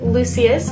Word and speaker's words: Lucius: So on a Scone smudger brush, I'm taking the shade here, Lucius, which I know how to pronounce because it is like Lucius Malfoy from Harry Potter, and I'm just going to apply that to the inner corners of my eyes.